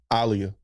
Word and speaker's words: Aaliyah: Alia. That's how you supposed to pronounce it.